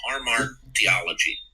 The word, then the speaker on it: hamartiology: And by the way, I for some reason, maybe it's my age, I botched the pronunciation of that. It's like hamartiology. Yeah.